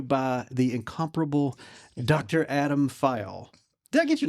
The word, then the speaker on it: Phyall: In the South, it always comes out funny, which is either, just that one syllable. But I always tell people it's two syllables, Phyall.